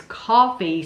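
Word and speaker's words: Coffy: Number 51 is Coffee, spelled C-O-F-F-Y. And that's 1973. It's coffee spelled with a Y.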